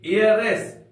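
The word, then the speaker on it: heiress: उत्तराधिकारी या फिर वारिस नेक्स्ट हम लोग पढ़ेंगे एयरस एच ई आई आर E double S एयरस इसमें भी एस साइलेंट है ये फीमेल के लिए होता है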